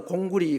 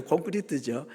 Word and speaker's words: 콘크리트: 아 이건 이제 일본 사람들이 발음이 안 되니까 공구리 공구리 그랬는데 원래는 이제 공구리가 아니고 콘크리트죠.